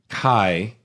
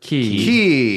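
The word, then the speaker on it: χ: big releases kingdom hearts kai or key or x depending on the pronunciation that they all it's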